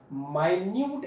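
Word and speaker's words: minute: और micro at द माइन्यूट scale. ध्यान रखना, इसको मिनट स्केल मत पढ़ लेना, स्पेलिंग एक ही है, मिनट मतलब टाइम वाला मिनट, और माइन्यूट प्रोनाउंसिएशन ही समझ में आ रहा होगा।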